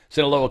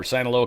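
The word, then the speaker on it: Sinaloa: Senaloa cartel or Sanoloa cartel is uh Senoloa, I think is probably the proper way to say that.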